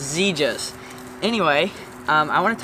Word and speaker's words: Xegis: Okay guys, so I want to talk about this Zja safe and I have been pronouncing it wrong the almost the whole time, but now I figured out it's ZAS.